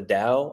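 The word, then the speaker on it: Tao: Lewis calls the the I think I think it's spelled t a o, but it's pronounced the Dow, I think.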